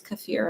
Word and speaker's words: kefir: I was gonna use some, you say it the right way to say is kefir, apparently.